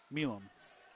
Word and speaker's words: Milam: Milam.